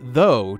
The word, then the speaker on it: though: ooh in that case now take out the R and you get though th ough in which case the ough ending is now pronounced o but if you remove